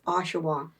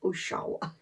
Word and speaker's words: Oshawa: written you never heard it spoken but it's Oshawa not Oshawa well there's a there's a lot of things